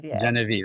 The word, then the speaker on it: Genevieve: Genevieve. Okay, sorry. Yeah. I pronounce it French style.